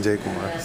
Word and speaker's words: Jai Kumar: I cannot pronounce the managing director's name. It's Jai Kumar? There you go. I made it. Jai Kumar.